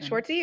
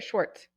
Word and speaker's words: Schwarz: Schwarzy or Schwarz. Just Schwarz. One syllable.